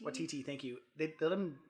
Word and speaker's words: Waititi: I always say his last name wrong. Taika Waititi? Waititi, thank you.